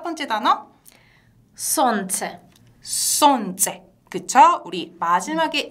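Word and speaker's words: солнце: 손체. 손재. 그쵸? 우리 마지막에 예. 근데 이 예 같은 경우는 마지막에 와 있는데 강세가 없어요. 근데 그대로 예 발음 났네요.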